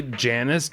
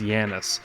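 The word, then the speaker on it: Janus: You see, I see Janice. J A N U S. And there was an Overwatch League player who I think people called Janice at first, but he was actually pronounced Yanis.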